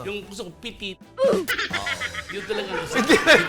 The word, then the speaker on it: Petite: Yung gusto ko, pitit. Yun talaga gusto ko. Hindi ka na nabasa ng petit lang yun. Pitit sa Tagalog yun. Bakit naging petit? Pitit yun. Yun talaga ang basa.